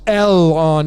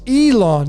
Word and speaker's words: Elon: musk see i don't i don't believe that it's l on it's elon they pronounce it elon which means the syllables would get broken up between the e and the l elon and that's how it rolls off your tongue this is another way